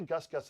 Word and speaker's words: Gus Gus: Is it Goose Goose? Gus Gus? They say Gus Gus in the film.